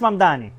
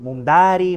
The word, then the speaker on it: Mamdani: Nadie sabe pronunciar mi apellido. Es Mamdani, pero a cada rato me dicen Mumdari, Mumnari.